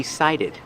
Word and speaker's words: cited: The T makes a T sound because it's before the stressed vowel. Citation. But this word is pronounced cited.